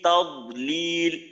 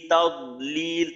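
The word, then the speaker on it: تضليل: তারপর দদের ক্ষেত্রে অনেকের আওয়াজ বন্ধ হয়ে যায়। যেমন ধরেন সূরা ফিলের মাঝে আছে ফি তাদলিল, ফি তাদলিল, তা জবর তাদ, তাদ। তো এখানে আওয়াজটা কিন্তু চালু রাখতে হবে। আওয়াজটাকে আপনি সিদ্ধার হরফের মতো মাখরাজে যাওয়ার সাথে সাথে বন্ধ করে দিতে পারবেন না। তাদলিল, ফি তাদ, তাদ।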